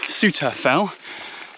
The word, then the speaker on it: Souther Fell: This fell that I'm on at the moment is actually a spur of Blencathra, and although it's spelt Southerfell, it is pronounced Southerfell, and this is my path ahead of me, a long diagonal track going straight up the side.